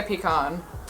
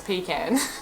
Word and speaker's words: pecan: tell from this quiz I'm going to say pecan oh we're wrong it's pecan in New York these